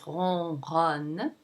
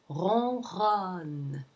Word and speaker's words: ronronne: There's the R with the nasal on sound. The N is not pronounced because it is not followed by a vowel. It's followed by another consonant, so you don't pronounce it. It nasalizes the O that precedes it.